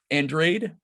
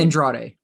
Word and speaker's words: Andrade: know you could maybe infer that but um Android is that how you pronounce this last name Andrade Andrade uh he's a great writer too you